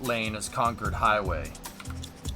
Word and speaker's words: Concord: Concord. There's a town in the United States that's in Massachusetts that's pronounced like that. I don't think giving it 2 lanes all the way is gonna work. Concord.